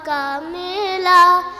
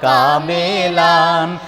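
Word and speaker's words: كاملًا: ওই ধরিয়ে দিয়েছিলাম না ন লাস্টে নটা ঠিকমত উচ্চারণ করবে হ্যাঁ আল্লাহ যখন যাকে চান করেন ফাহমান কামেলা আল্লাহ যখন ওয়ান টু থ্রি গো আল্লাহ যখন যাকে চান করেন ফাহমান কামেলান আল্লাহ যখন যাকে চান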